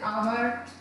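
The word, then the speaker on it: hour: अंतिम 3 शब्दों में व्यंजन एच और एम होते हुए भी उनका उच्चारण स्वर ध्वनि से किया जाता है, जैसे आवर, ऑनेस्ट और एमपी, ठीक।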